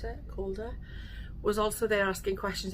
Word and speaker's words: Calder: How do you pronounce it? Calder.